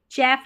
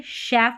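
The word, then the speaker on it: chef: यहां पर इसको चैफ नहीं पढ़ते शेफ पढ़ते हैं।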